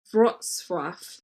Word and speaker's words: Wrocław: Wrocław. It's spelled Wroclaw. Yeah. Yeah. It's not Warsaw? No, don't worry. You do you. Let me just... Wrocław is what Google has just told me.